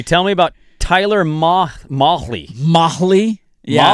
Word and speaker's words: Mahle: Mahle? Yeah. Molly or I think Mahali? I think it's Molly. Okay. I think is how you say it.